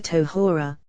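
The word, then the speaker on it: טהרה: shall remain by Gmir Tohora, in blood of purity. Tohora, purity, unspecified, for the final he is not pronounced, for you should not say the purity of Matronita but rather purity, unspecified.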